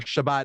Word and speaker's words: Shabbos: So Shabbos, or Shabbat as people call, I pronounce it Shabbos because my ancestors are from like the backwaters of Poland.